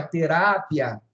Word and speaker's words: terapia: olha como eu falei a palavra terapia em espanhol é terápia mudou a sílaba tônica heterotônicas pequena terápia